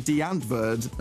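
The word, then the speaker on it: Die Antwoord: But now we have got the new song from Deantverd, as everyone tells me it should be pronounced.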